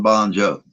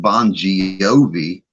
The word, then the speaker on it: Bongiovi: not choice in cereville new jersey where john bon jo i'm sorry let me say it correctly where john bongiovi and richie and all the rest the guys